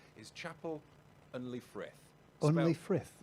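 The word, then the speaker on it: Chapel-en-le-Frith: the P the the capital of the peak Chapel unley Thrift I had to revise how to pronounce that because I've got in trouble a lot recently from a pronunciation of names is Chapel unli frith only frith it's spelled Chapel hyphen en hyphen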